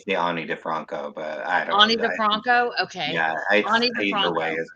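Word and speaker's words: Ani DiFranco: saying it right the annie defranco but i don't know okay so she it's pronounced like i if i were speaking okay if i yeah um but so ani defranco so uh i really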